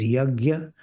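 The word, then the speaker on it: यज्ञ: be accomplished without yagya this word in North India is pronounced as yagya often in South India y so but this is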